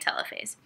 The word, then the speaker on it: telophase: other next we have telophase which some pronounce telophase but I'm gonna keep calling it telophase like telephone each cell has its